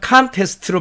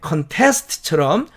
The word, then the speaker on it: contest: contest로 이렇게 철자한 이 단어는 앞에다 액센트를 줘서 contest로 발음하면 명사로서 분쟁, 그 다음에 contest처럼 뒤쪽에 액센트를 주면 동사로서 다투다가 됩니다.